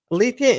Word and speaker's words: Alethia: are Sher yeah surrounding areas it's called althia althia Integrative Health yes did I pronounce that correctly you did thank all right